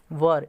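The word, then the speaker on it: were: Books वर, इसको वर बोलते हैं। ठीक है, आप लोग वेयर पढ़ते हो ना, जो कि गलत है, इसका प्रोनाउंसिएशन वर होता है।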